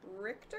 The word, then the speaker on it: Richter: We've got Richter. Is that how you pronounce his name? Yeah. It's Richter.